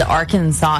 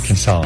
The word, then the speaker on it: Arkansas: when you were little always had trouble with Arkansas in Kansas Arkansas yeah that's true they have they have those silent s's what do they doing